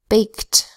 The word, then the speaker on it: baked: the past we add Edie to make it baked I baked a cake baked I spelled with a B that says bow and a